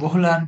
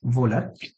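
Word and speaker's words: Wöhler: পরের লতে বিজ্ঞানী ফ্রেডরিক ওহলার, কেউ কেউ ভোহলার বা ভোলার নামেও পরিচিত ডেকে থাকেন। তো এটা উচ্চারণের ক্ষেত্রে এটা নিয়ে সমস্যা নেই, ডাব্লিউ দিয়ে উচ্চারণটা হয় পপুলার বা ভোলার।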